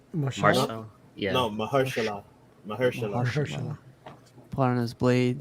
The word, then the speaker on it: Mahershala: How do you pronounce his name? Marshall. Marshall. Yeah. No, Mahershala.